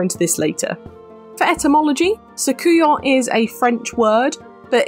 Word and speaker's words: Soucouyant: sometimes used to describe Soucouyants too. You'll also notice I'm taking the T sound off the end. It's just generally not pronounced with this word, so it's Soucouyant rather than Soucouyants, which I did make